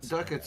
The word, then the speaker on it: Ducats: from a lot of du du duckets is the is the common way that I've heard people in America pronounce it okay oh good we're